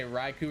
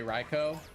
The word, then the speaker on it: Raichu: Like do you say Raichu or do you say Reicho? Cuz I guess Reicho is apparently the correct way allegedly based on the Pokédex.